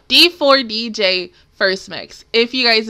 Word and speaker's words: D4DJ: towards episode one of dj dj nope i'm saying it wrong am i saying it no d4 dj first mix if you